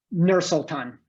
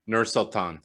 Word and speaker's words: Nur-Sultan: Is that how you pronounce, or Sultan? Nur-Sultan. Nur-Sultan.